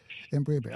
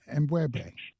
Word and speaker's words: M'Bwebe: Brother M'Bwebe, I hope I'm pronouncing your name. Correct me if M'Bwebe. I don't. M'Bwebe. M'Bwebe. Like yes. M'Bwebe.